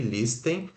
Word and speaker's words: listen: ou escutar música Tá então se escreve lstern Listen mas se pronuncia sem eu sei que tem o t aqui no meio mas não fala esse ter pelo amor de tudo